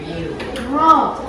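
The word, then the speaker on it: ρ: Siapa yang tahu bacanya? Ro. Dibacanya ro bukan P ya.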